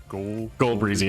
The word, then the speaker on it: Ghoul Breezy: Yeah, Ghoul Breezy.